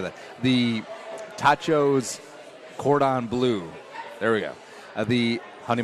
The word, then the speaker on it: cordon bleu: The tachos cordon bleu There we go.